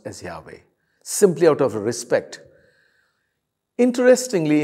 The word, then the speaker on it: Yahweh: but they knew that it was to be pronounced as yahweh simply out of respect interestingly in the 17th